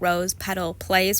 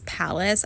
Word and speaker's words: Rose Petal Place: We're going to continue to look at Rose Petal Place. Why did I think the word was palace? I didn't even spell it wrong. I literally just pronounced it wrong.